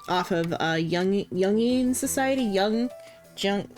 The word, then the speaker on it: Jung: Young Jung like Carl Young, I think, or no, Carl Carl, maybe not Carl Young. It's young, but it's spelled Jung.